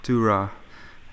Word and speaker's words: Durrah: David Durrah, was that how you pronounced it? Durrah.